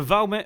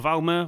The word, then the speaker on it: Valmet: Okay, so this one here is the Valmet, or the Valmer, or the Valmet, however you want to pronounce it. Some people say Valmer, some people say Valmet.